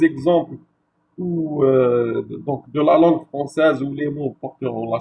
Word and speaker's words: français: donc de la langue française où les mots porteront la cédille. Par exemple, le mot français, la lettre C portera la cédille parce que sinon on aurait lu le français franqué.